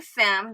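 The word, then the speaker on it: femme: right now I said Finn no I said femi at first is really fam that's where stem from which is women and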